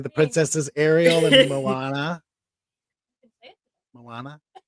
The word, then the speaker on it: Moana: princesses Ariel and Moana Moana I say it right you got it right okay good Moana and